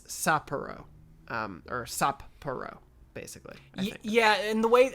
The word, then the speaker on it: Sapporo: the blue golden hawks a japanese pronunciation of sapporo is maybe a little unusual for english speakers because there's a pause between the two p sounds essentially to pronounce both i think similar to